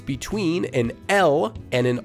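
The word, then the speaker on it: 라: Notice that it's not la and it's definitely not raw. Since it's pronounced using a different tongue position, you can hear how it's a softer sound.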